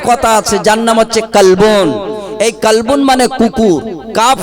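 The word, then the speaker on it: قلب: জানে তারা বুঝতে পারবে আরবিতে কাপকে দুটো কাপ ব্যবহার করা হয়েছে একটা নোক্তা দিয়ে একটা নোক্তা না দিয়ে নোক্তা দিলে ওই কাপটার ওজন বেশি এইটা উচ্চারণ হবে কলবন মানে অন্তর জোরে বলুন না সুবহানাল্লাহ তাহলে একটা হল অন্তর আর একই জিনিসকে আপনি যদি হালকা করে পড়েন তখন হবে কালবন মানে হচ্ছে কুকুর আল্লাহর নবী বলেছেন হুজুরের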